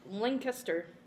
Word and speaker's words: Lancaster: you say it's Lancaster one Kuster Lancaster link link astir they had a lot of Amish there that's